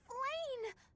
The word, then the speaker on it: Flayn: Is that really how you pronounce Blah? That appears to be Flayn. Is it Flayn? Yes, it's Flayn!